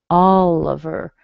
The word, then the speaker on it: Oliver: Oliver, yeah, that's a good one. Oliver fits into this category. Da da da. The I here is also a schwa. Oliver.